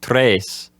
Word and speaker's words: tres: You were saying that with regard to the word tres, now you're saying that a common way that an English speaker might mispronounce that word would be to have the letter E making 2 vowel sounds.